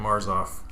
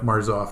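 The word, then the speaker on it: Marsolf: Jim you did Jim marzoff y marzoff don't pronounce the L the L is kind of silent so okay Jim marsof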